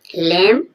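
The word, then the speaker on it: lamb: होगी जैसे आप देखेंगे लेम लेम मीन्स भेड़ का बच्चा मेमना एल ए एम बी एम के बाद भी साइलेंट है डेट डेट डेट मीन्स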